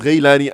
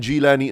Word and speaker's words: Jilani: And who better to start with than the great Qutb, Sayyidina Abdul Qadir Muhyiddin Abdul Qadir al-Ghailani, pronounced Ghailani and Jilani as well.